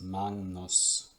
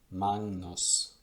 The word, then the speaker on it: magnus: a similar phenomenon here if this g comes before an n then it is pronounced like ng so an example of this is magnus magnus and that's how you